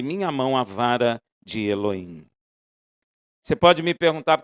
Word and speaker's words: Elohim: Amanhã ficarei no alto da colina, segurando em minha mão a vara de Elohim. Você pode me perguntar, por que você fala Elohim, Rafael?